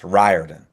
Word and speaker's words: Riordan: It's Ryarden.